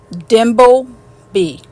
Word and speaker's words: Dimbleby: The other is the biography of the Prince of Wales by Jonathan Dimbleby, a detailed portrait of King Charles written when he was still the Prince of Wales.